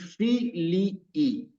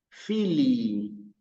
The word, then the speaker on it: filii: Entonces, tenemos que hacer un esfuerzo porque es por decir filii. Filii. ¿Sí? In nomine Patris et Filii. ¿Ven que yo alargué la I?